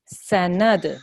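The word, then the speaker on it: سَنَدْعُ: So, sanad. Remember, this is qalqala letter.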